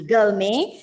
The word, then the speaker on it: gourmet: for foodie gourmet exactly gourmet the stress is on the first part and the tea goes